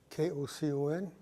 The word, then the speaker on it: Kocon: My name is Kocon, Kocon. Pronounce the C like an S.